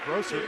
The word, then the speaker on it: Brossert: By Jay Brossert, excuse me. Been saying it wrong the whole game.